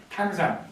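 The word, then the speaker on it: 唐山: 그래서 당산이 된 것입니다 당산은 중국 발음으로는 여적 당산이 탕산 당산은 산입니다 당산은 무슨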